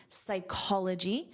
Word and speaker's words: psychology: The same pronunciation rule applies to the noun, psychology.